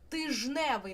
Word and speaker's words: тижневий: Наприклад, ми маємо слово тиждень. Слово тиждень пишеться з літерою Д. Але коли ми починаємо починаємо це слово міняти, тижневий, нам уже незручно було б казати тиждневий, і д випадає і виходить слово тижневий.